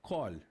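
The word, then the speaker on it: קול: Qual a pronúncia? Kol.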